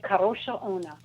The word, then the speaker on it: Kadrolsha Ona: Kadrolsha Ona? That's really close. Thank you. All right, how would you say it? I would say it Kadrolsha Ona. Kadrolsha. You roll the R. Kadrolsha Ona.